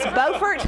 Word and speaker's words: Beaufort: It's spelled the same, and I'm Southern, and it blew my mind. So it is Beaufort, North Carolina, and we still laugh because we